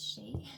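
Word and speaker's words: Sidhe: So, um it's spelled s i d h e, but it's pronounced she, which is funny.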